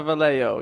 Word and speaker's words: Vallejo: prepared by the killer were received at the Vallejo. I'm probably saying that wrong. I'm really sorry, Dave. It's pronounced Akron. Did you say Vallejo? It's a Vallejo, yeah.